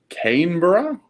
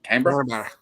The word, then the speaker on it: Canberra: say this I will never be able to pronounce the name of the capital right I know it's Canberra but I know that everyone else has never